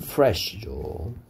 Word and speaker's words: fresh: 그러니까 을 발음을 내느냐, or 발음을 내느냐, fresh라고 발음하느냐, flash라고 발음하느냐에 따라서 신선한이란 뜻이 될 수도 있고요. 살점이란 뜻이 될 수도 있으니까 or 발음과 을 발음을 구분해서 fresh라고 해야 되겠죠.